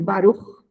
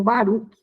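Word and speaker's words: Baruch: né baruco Espinosa dizia pronuncia esse barulho e não Baruk como todo mundo costuma falar né o certo é barulho esse CHT e o Deus de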